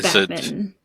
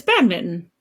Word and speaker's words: badminton: yeah mint like and everyone I know says Batman is that class yeah but we just missed the N no it's definitely Batman I refuse to believe mint pronunciation pronounced bad Mitten yeah it's bad Mitten but it's like spelled Minon you know what